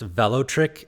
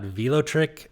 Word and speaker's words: Velotric: and a quick side note the brand is pronounced Vel trick and not vot trick I pronounced it wrong a couple times in